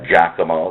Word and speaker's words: Giacomo: Again, he's Giacomo, that's G as in George, IACOMO, last name Rugrillo.